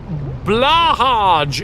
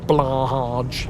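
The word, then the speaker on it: Blåhaj: It should be pronounced Blahaj, because it's fun to say. It's really fun to say. I think it's more like Blue High?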